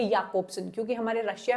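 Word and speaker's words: Jakobson: आपके Victor स्लोवास्की, then Boris आइकेनबॉम, Yuri टिन्यानोव and Roman जैकोब्सन। अब इनका एक्चुअल जो प्रोनाउंसिएशन है वो है याकोब्सन, क्योंकि हमारे रशिया में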